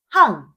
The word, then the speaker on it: 半: 반은 한자로 반반자를 쓰고 항 항이라고 발음해요.